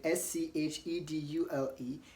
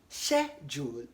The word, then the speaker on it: schedule: okay the second word s-c-h-e-d-u-l-e is pronounced as Jewel in British English and schedule in American English so you want to